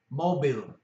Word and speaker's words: mobil: O, O is pronounced the same as in English, O, mobil, mobil. Mobil means car.